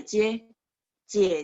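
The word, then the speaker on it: 姐姐: 这是我姐姐。姐姐 bacanya J-nya nada 3. Nah, huruf kedua itu jadi nada ringan karena nggak boleh J kan, kebanyakan orang bacanya J ya.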